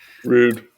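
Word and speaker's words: Rohde: he was 71 and i think it's pronounced road rude road rude rude there you go he would be post harmonious humorous harmlessly inducted into the wwe hall of fame in 1994.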